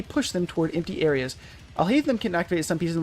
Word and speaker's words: Alhaitham: Alhaitham, not Altaheim.